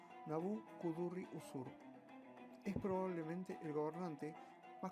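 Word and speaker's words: Nabû-kudurri-uṣur: Nabucodonosor II, o como se pronuncia en acadio, Nabu-kudurri-usur, es probablemente el gobernante más conocido de la dinastía caldea de Babilonia.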